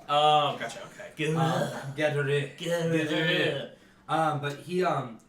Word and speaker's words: Gaudreau: Is it literally good row? It's spelled all French and stuff. Oh, gotcha. Okay. Good. Gaudreau.